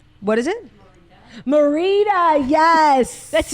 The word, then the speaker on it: Merida: It's giving Merelda. What do we say her name is? Merida.